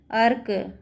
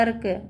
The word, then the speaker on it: अर्क: अब सब में उच्चारण क्या आ रहा है, अर्क, अरक, लेकिन ये अलग अलग नहीं आ रहा है। अगर इसका उच्चारण क्या आ रहा है, आधा आ रहा है। अगर यहाँ पे पूरा उच्चारण आता है तो ये क्या होता है, अरक हो जाता है ना। लेकिन इसको बोलने के लिए अर्क, मतलब इसका उच्चारण, र का उच्चारण क्या है, आधा है, ये बिना स्वर के है।